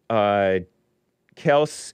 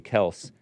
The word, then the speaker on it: Kelce: the old days and call him what it's supposed to be, Kelce. If you want to be with the people, the communists, call them Kelce.